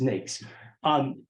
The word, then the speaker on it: NAICS: and 4-digit industries, the NAICS code, I believe they use the word, I think they believe it always rhymes with snakes, is NAICS.